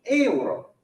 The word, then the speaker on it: euro: So, il libro costa 10 euro. euro. Euro. It's 3 syllables, right?